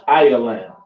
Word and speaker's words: Elam: Which is those so called East Indians, pronounced Ialam.